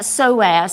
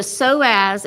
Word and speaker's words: psoas: So, finding that psoas. So, the psoas is spelled s p o a s. And the p is silent.